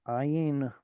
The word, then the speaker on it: ayin: There's the ayin 1, which is pronounced in the bottom of your throat, ayin. And then there's an ayin, there's an ayin 2, which is pronounced at the larynx, which is basically just behind where the letter K is pronounced.